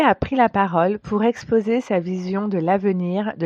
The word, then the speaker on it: exposer: approfondies dans son article exposer exposer exposer ici le S se prononce comme un Z parce que vous l'aurez compris il est entouré de deux voyelles exposé donc exposer c'est